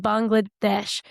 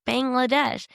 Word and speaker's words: Bangladesh: They, like, you pronounce it Bangladesh, but everybody, as an American, you're going to come in and be like Bangladesh.